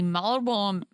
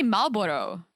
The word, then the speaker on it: Marlboro: We say Marlboro in Czech. Marlboro. Is it Marlboro? Marlboro. I think it's Marlboro. We don't pronounce the R.